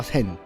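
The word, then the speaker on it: 千: 놓고나니 이제라는 이름이 남습니다 그 일본어 발음으로 센이라고 하는거죠 센 그래서 영화제목이 센의 행방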